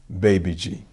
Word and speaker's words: Babaji: Caucasus Mountains of Russia her name is Babaji BBG or perhaps spelled as baba ji which we pronounced as baby G master Farb Muhammad's father